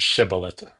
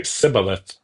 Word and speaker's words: shibboleth: uh a person crossing the river is made to say the word shibilith and if they mispronounce it and said instead uh say cibilith then they're put to death.